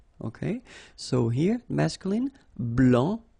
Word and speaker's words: blanc: so here here masculine BL don't pronounce the final C and then Blan okay